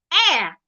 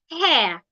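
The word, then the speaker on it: heir: Honor, air, not hair.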